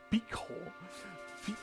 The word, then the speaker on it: Pico: The accent is on the O. It's not on the C. It's just a hard C sound. So it's pico. Po. It's not a p. It's a p p. Yes. Like just imagine like saying Piccolo but like you know.